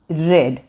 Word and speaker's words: read: रामायण पढ़ी जानी है, तो लिखे the Ramayan is टू बी रेड। ये स्पेलिंग रीड की READ है, लेकिन इसका प्रोनाउंसिएशन रेड है, रीड, रेड, रेड।